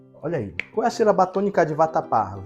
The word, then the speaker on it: vatapá: aí qu tônica de vatapá vatapá ca batô é o pá muito bem então a ca B tônica de vatapá é o pá Então ela é uma